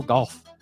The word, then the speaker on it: Gauff: So there's no L in that, but still a pretty appropriate surname for a professional golfer. Coco Gauff. I don't know. Maybe she pronounces it Golf, but I hope not, because that'd be dumb.